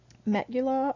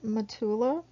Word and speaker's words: metula: Or they can be attached to a metula or metula, depending on where you're at, how it's pronounced.